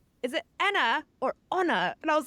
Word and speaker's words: Anna: they're just saying like I'm here with Anna and I'm like yeah that's fine like that's how you say my name and then other people think then they take that and then in American they say oh it's Anna and I'm like oh wait no that's wrong right so you know